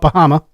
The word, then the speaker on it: Pajama: My last name is Pajama. Actually, natives call it Bahama. But we pronounce the J here in Riverview for some reason.